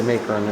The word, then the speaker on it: Macon: I say Macon, it's Macon, I don't know. Keep saying it wrong.